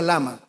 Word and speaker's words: lama: No, no es lema. Se pronuncia lama.